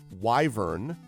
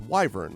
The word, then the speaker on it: wyvern: journey on this of wyvern I thought it was Wy V RN is wyvern like the letter Y then people were like no it's wyvern so then I felt embarrassed